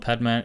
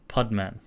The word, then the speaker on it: Padman: It's not Padman, it's Podman. Oh, sorry, Podman, but it's spelled Padman.